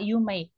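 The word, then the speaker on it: 有名: Begitu juga dengan yume, iya betul dia belakangnya memang hurufnya i. Tapi begitu dilafalkan dia tidak yumei seperti halnya semai, kitanai, hiroi, takai, tetapi dia yume. I-nya ketelen, I-nya nggak diucapkan secara bulat, sehingga dia masuk ke kata sifat.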